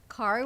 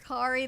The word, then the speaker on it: Kari: Let's bring over Kari that says it rhymes with sorry.